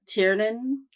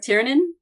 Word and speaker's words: Tiernan: Tiernan. Yep. Tiernan.